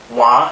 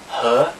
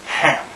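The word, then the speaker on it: 和: So this character, wa in Japanese and he in Chinese. In Chinese it can also sometimes be pronounced han, in which case it means and something.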